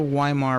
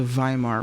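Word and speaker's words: Weimar: maybe Dutch as well W is a v sound like it's not the Yar Republic It's the viar Republic but it's spelled with a W it's just a good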